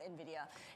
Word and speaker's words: Nvidia: yeah the one that so many people didn't know how to pronounce uh up until the last year Nvidia Nvidia Nvidia I go with Nvidia and I think Jensen Hong does too but whatever you want